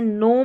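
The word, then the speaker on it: gnome: जी एन को न पढ़ेंगे। जैसे नोम में पढ़ा नोम में क्योंकि जी साइलेंट है।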